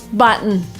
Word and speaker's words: button: Initially you would pronounce button with a t but native speakers would often use the glottle stop here. So it's button button.